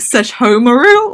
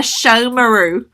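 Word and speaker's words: Sesshōmaru: like mispronounce the name I called it like such Homer ooh or something and this girl who I had never seen who was walking past me was like oh my god if you like him so much pronounce his name correctly it's a show meroux and walked off and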